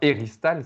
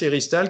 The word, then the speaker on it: éristale: Alors, éristale, ça s'écrit comment? E-R-I-S-T-A-L-E, comme ça se prononce presque, et elle fait partie